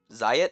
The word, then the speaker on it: Zyot: My last Sonic post and my last Sonic OC, Zyot, or Zayat makes more sense because it's meant to be riot with a Z or Z as the Americans pronounce it.